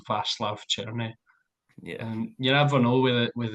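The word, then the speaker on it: Václav Černý: name um yeah is it's it's Cherney I believe I believe it's vast churny yeah you have know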